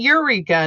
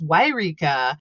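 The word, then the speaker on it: Yreka: totally no yeah yeah it's not eureka not the cool place it's wairika with a y and it's right next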